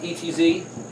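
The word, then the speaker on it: עץ: like a tree is I and Adi it's pronounced etz but it also means to take counsel well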